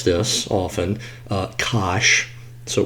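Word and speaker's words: cosh: use the Su variable U um uh we pronounce this often uh Kos so Kos squared U okay minus and then hyperbolic sign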